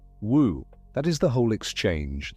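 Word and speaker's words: 無: In Chinese it is written woo pronounced woo. In Japanese it becomes moo.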